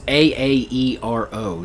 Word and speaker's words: Aaero: It's A A E R O, so I think it's Aaero.